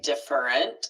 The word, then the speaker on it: different: This is spelled like it would be three syllables most likely. And I hear that on podcast TV shows more often I hear these squished together and turned into two syllables different.